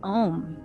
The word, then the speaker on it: om: sound as well so when pronounced correctly om has four syllables and it is pronounced